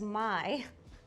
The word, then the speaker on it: Maille: Maille? I have a French expert on the side and they just told me in my ear that it's pronounced as my.